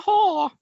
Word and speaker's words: Hoare: Yeah, I was reading it and I was like, is it pronounced whore? Yeah. Is it? And then watched the police tapes and they were like, I'm Shauna Hoare.